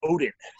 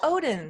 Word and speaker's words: Odden: One quick thing, it's actually pronounced Odden. Oh, Odden.